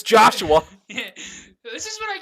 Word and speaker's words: Joshua: Hey, Josha. Josh? What the... Wait, what the... we'll be right back, folks. Alright, you found out how to pronounce that name. It's Joshua.